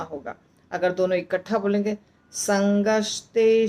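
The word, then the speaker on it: सङ्गात्: बोल बो आसान होगा संगत संगत में त आधा है ध्यान रखिए त आधा है यानी संगत संगत संजत संगत संजत लगता है कि त है आधा पर जब बोलते हैं त के पास आकर रुकता है संगत संगत ऐसे संजत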